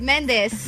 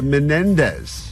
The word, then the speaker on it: Menendez: with saying bada bada you're also missing a syllable in the last name of M of all the names that she gets wrong I'm shocked she's getting this wrong I'm literally saying it right Mendes the Menendez oh men I mean